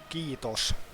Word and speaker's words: Kiitos: Kiitos. Yeah, Ketos. Everything in Finnish is pronounced exactly as they're written, which is Ketos.